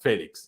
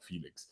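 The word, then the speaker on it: Félix: did at least um it's called Felix not Felix which is actually pronounce it my language so everyone calls him Felix they just see it feels more natural to call him Felix in the English language but hey Jiao Felix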